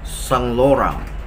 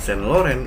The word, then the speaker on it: Saint Laurent: Saint Laurent sel oren-oren ternyata dibacanya sang orang sang orang bukan Saint Laurent Iya itu pelafalan Hai